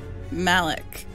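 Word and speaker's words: Malak: never met before but he's my bunk it's pronounced like alec malek oh okay that looks better it's still too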